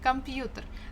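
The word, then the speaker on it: компьютер: off the grid yeah computer the stress falls on letter U but we have kind of semi-stressed uh before the first syllable come computer computer but still the there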